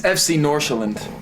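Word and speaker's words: FC Nordsjælland: the team he plays for why don't you pronounce it let's see if they it's it's FC norand for all this to happen so quickly I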